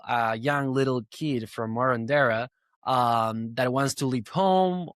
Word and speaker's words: Marondera: Marondera. That's how people say it. But I mean, Marondera. I got the little accent in me, so I say Marondera now.